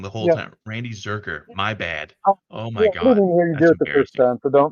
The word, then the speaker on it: Zurcher: It's It's Zurker. It looks like it's pronounced Zurker with a hard hard K. Oh, me. Really? I'm over saying your name wrong the whole time. Randy Zurker.